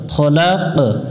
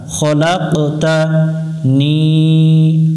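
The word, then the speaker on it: خلقتني: সৃষ্টি করতে হয় খলাক খলাক এখানে খালাক পড়া যাবে না অনেকজন এখানে ভুল করে খালাক উচ্চারণ করে তা জবর তা খলাকতা নি নুন জের নি জের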